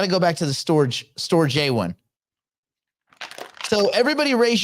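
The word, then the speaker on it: Storj: Oh, is it pronounced storage? The company's pronounced storage, stupid. The token is Store J because there's no AGE, is there?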